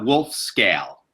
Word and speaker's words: Wolfskehl: background so that everybody know are your proper pronunciation of your name so everybody knows in your last name it's a wolf scale woof scale okay all right so I guess